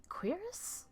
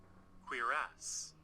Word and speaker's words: cuirass: Cuirass? Sorry, how is this word pronounced? Because I've only ever seen it in video games. I've never actually heard it pronounced. Cuirass. Cuirass.